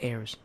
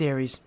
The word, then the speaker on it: Ares: But I believe it's probably pronounced Ares, unless it's Airs. Yeah, it's Ares. Like the god probably.